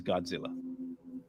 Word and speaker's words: Gojira: hurtling to Earth is Godzilla. Oh, damn. You got to say it like that. How do you say it? Gojira. Gojira. It's Gojira.